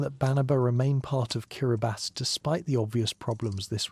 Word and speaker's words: Kiribati: The event served as Tobi's first major test as president establishing precedence for how Kiraabasi would engage with the international community. The choice of the name Kiraabas, the local pronunciation of Gilberts, reflected careful consideration of the new nation's identity and scope.